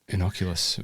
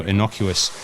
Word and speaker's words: innocuous: the fact was that I still mispronounced it inocula you're inoc we're about to be inoculated uh the globe over for what we've been going through but no innocuous uh it's an adjective